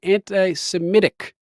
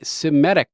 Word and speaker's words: anti-Semitic: not even true wow he actually pronounced it correctly anti-semitic people always say citic reversing the e in the I sorry grammar police sorry